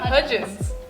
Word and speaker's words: Hudgens: Hudgens.